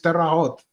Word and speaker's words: Terre Haute: I think that's the good pronunciation. I think it's Terre Haute. None of us in the US pronounce it correctly. And it's certainly not in correct French.